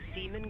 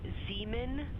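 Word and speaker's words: Zeeman: Integrity Science, we believe that's Zeman Crater. Oh, I floated away from the speaker. Say it again, please. We believe that that is Zeman Crater. Zeman.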